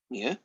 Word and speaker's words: mu: Now, this fella here, that is a Greek letter, and you pronounce it mu.